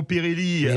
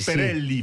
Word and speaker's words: Perelli: Merci Perelli, Perelli, pardon, on va le prononcer à l'italienne.